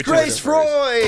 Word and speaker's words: Freud: It's Grace Freud.